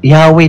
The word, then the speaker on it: Yahweh: Pero Yahweh talaga ang pronunciation niya.